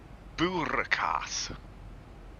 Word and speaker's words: boerenkaas: But spelt with an N that you don't say. Boeren, yes. Yeah. It's the Dutch version. We just drop the N at the end.